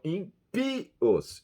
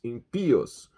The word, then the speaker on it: ímpios: praticamente igual a português diferença na sílaba tônica acentuada pelo acento agudo no português em e no espanhol ímpios ímpios no entre as palavras